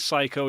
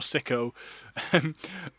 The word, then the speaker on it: Psycho: We do have confirmation on the pronunciation, and it is Psycho, not Sucko or Sicko.